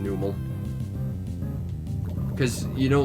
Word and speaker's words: Numel: I think it's pronounced Nummel, but I've always pronounced it Numel.